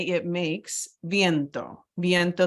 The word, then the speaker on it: viento: I say it makes viento viento the V is a b as in boy sound like that so viento implies sometimes